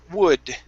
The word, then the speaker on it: would: Next up is the word would. Okay, so here you said yeah. okay. The L is silent.